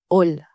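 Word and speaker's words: hola: pas la lettre H la lettre H ne se prononce jamais en espagnol. Elle est totalement. Par exemple, ola se pronunce o la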